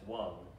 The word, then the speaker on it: Wang: know his uh the the name is supposed to be pronounced in the chinese as one uh and it was americanized to wang uh you know with